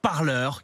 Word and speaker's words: Parler: ce que vous dites ça s'écrit comme le verbe parler mais ça se prononce par leur car ce réseau social